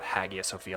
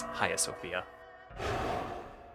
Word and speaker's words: Hagia Sophia: Sophia so early on apparently the g is silent so it's not Hagia Sophia like I've been saying previously it's ha Sophia yay for Greek like